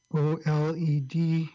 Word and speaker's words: OLED: comments a lot of its just how to pronounce OLED oh LED is a Marcus's official pronunciation of that basically